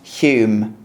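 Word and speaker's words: Home: Butler again, Lord Halsham, Quinton Hog, Regginald Mordling, and a late outsider Lord Hume H pronounced Hume.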